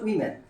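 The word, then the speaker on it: women: অনেক সময় যেমন যখন সিঙ্গুলার বোঝায়, অর্থাৎ এম এ এন থাকে, তখন এটার উচ্চারণ হচ্ছে ওম্যান, আর যখন ইএন থাকে তখন এটার উচ্চারণ হচ্ছে উইমেন, উইমেন। তাহলে এই দুটো উচ্চারণ যাতে আমাদের মনে থাকে, অর্থাৎ এটা হচ্ছে ওম্যান, এটা হচ্ছে উইমেন।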